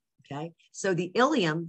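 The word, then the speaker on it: ileum: very different meanings okay you've got ilium and ilium these are really they sound exactly alike okay so the ilium spelled with an e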